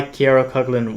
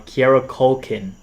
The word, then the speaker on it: Kieran Culkin: I saw this movie, and I know why Kiera Cuckling won. That's how you say his name, right? Sorry, I said it wrong. Kiera Culkin. My bad.